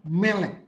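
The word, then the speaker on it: מֶלֶךְ: Itu bacanya adalah melek. Karena apa? Dalam kata ini tidak mengandung unsur leksionis yaitu alef, yud, he, waw, dan ayin. Jadi vokal yang mengisi adalah e.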